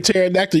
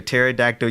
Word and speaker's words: pterodactyl: what is it james because the p is silent you know i was